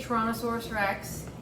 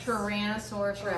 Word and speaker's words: Tyrannosaurus rex: boxes and um so how do you say torosaurus Rex and how do you say what's another one